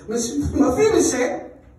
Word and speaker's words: Mephibosheth: Okay, it's not said like it's spelled. Mephibosheth.